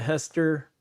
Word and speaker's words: Hester: Hester is spelled the way it sounds.